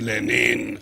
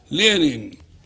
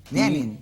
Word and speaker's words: Lenin: Tú sabes de sobra que no se dice Lenin a la chilena, no, pues. La E se diptonga. Ajá. Lenin. Lenin.